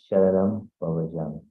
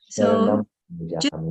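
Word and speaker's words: Sharanam Pavajjami: એટલે pronunciation માં Dhammam Sharanam Pavachami. Throughout the thing, some words you're eating. Sharanam So Pavachami, yeah? It should be Sharanam Pavachami.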